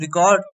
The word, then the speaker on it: record: The word record noun is stressed on the first syllable.